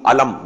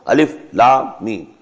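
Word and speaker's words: الم: Not pronounced as alif lam meem alam, no. Alif lam meem.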